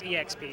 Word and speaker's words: EXP: experience magazine exp uh if it's written online and there's no punctuation i use exp dot but just exp is what i say yeah exp is uh